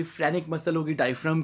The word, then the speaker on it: phrenic: जो डायफ्राम की मसल होती है उसे बोलते हैं फ्रेनिक मसल। क्या बोलते हैं बच्चों, फ्रेनिक मसल।